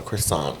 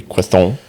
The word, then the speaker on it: croissant: Why not the hard T? You never pronounce T at the end of a French word unless there's a letter after it, like an E.